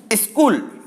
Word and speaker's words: स्कूल: तो सही उच्चारण क्या होगा? जैसे स्कूल, तो इसको हम पढ़ते हैं स्कूल, स्कूल जो उच्चारण कर रहे हैं वो बिल्कुल गलत है, ये अपना वर्तनी दोष है।